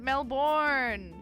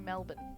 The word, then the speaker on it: Melbourne: Hey, we don't pronounce it Melbourne. Yay, congrats. Look, the computer freaked out just seeing Melbourne written like that. No, it's not like Mel Gibson. We say Melbourne.